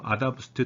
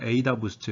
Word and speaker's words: AdaBoost: 이번 시간에는 앙상블 기법 중에서 이제 부스팅 계열로 넘어가서 그 중에 첫 번째 어댑티브 부스팅, 그래서 뭐 아다 부스트 또는 에이다 부스트, 뭐 발음하는 사람에 따라서 좀 다른데 이 방법론을 설명을 하도록 하겠습니다.